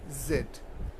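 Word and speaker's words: Z: এক্স, এক্স, ওয়াই, ওয়াই, জেড। এই যে জেড, জেডের দুটি উচ্চারণ রয়েছে, ব্রিটিশরা বলছে জেড, জেড, জেড, আর আমেরিকানরা বলছে জি।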